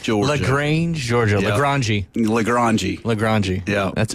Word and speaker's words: LaGrange: LaGrange. Yeah. That's how you're supposed to pronounce it.